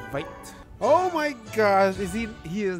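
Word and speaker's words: Veidt: But he's now pronounced his name as Vite.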